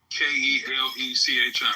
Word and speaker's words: Kelechi: Okay, I'm saying it wrong. I'm sorry. I'm calling you and shit. How you spell it? Kelechi, right?